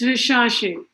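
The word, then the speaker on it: recherche: and you know in french this church is pronounced like sure so it's rishashi which means to travel through our survey so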